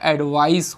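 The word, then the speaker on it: advice: तो that represent noun, और इसका प्रोनाउंसिएशन एडवाइज होता है और इसका एडवाइस होता है, ठीक है।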